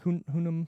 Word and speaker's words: Hunnam: It's also got Charlie Hunnam. How do you say his last name? Hunnam.